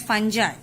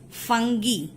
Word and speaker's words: fungi: Don't pronounce it as fungi. Okay, the real or the correct pronunciation of this word is fungi.